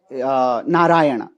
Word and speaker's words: नारायण: रूपेन भवतः नाम नारायण यदा वयंम संस्कृत भाषायाम पठाम तदा एक एव्या उच्चारणम कुर्म परंतु आंग्ल भाषायाम एन ए आर आर एन ए आर ए वाई ए एन इति पटामः बहुविधा उच्चारणानी संती यथा नारायण नार नारायण नारायण नारायण एवदा उच्चारणानी संती अतः आंग्ल भाषायाम ध्वनि